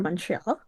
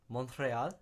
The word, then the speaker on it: Montreal: Mo al Montreal. Yeah. Wow. Okay. I haven't enrolled my RS in Spanish class in high school. So, you guys don't say the T.